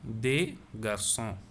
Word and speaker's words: garçons: Un garçon, des garçons. So I am not pronouncing the s.